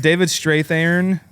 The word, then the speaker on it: David Strathairn: David Strathairn, I think is how you say his name.